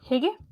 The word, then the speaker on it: hygge: So Hygge. Hygge? Okay. Yeah. Yeah. Close enough. It's not how you say it. That's how I want to say it, but I know that's not how you actually say it.